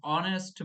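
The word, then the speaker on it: honest: WBP primary টেটে এসেছিল, হি ইজ অ্যান অনেস্ট ম্যান, হি ইজ অ্যান অনেস্ট ম্যান। কেউ উচ্চারণ করবে এই যেহেতু সামনে আছে হনেস্ট, কিন্তু হনেস্ট উচ্চারণ হবে না, ওখানে অনেস্ট ম্যান উচ্চারণ হবে।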